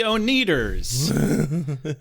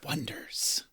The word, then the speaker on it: Oneders: So they spelled it Oneders. And then every time they're announced, they're like, next up, the Oneaters. Like, it's The Wonders.